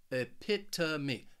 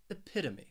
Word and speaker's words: epitome: that uh sound and that final syllable it's just me that long e so that o spelling it is really pronounced a me epitomy epitome so let's practice say